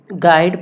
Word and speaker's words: guide: तो गाइड को हम गाइड पढ़ते हैं, GUIDE को गाइड पढ़ते हैं। इसमें हम सीधे जी के बाद आई को पढ़ते हैं, यू को नहीं पढ़ते हैं।